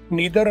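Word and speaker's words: neither: ईदर, ये लफ्ज ईदर और आइदर में फर्क है। ईदर और आइदर दोनों ही सही है प्रोनाउंसिएशन, नीदर और नाइदर दोनों, जैसे नीदर और नाइदर, ईदर और आइदर, आइदर नाइदर या ईदर नीदर, ये दोनों ही ठीक है।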